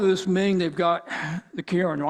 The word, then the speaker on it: Kirin: So on part of this Ming, they've got the Kirin. I'm using the Japanese pronunciation because of Kirin beer.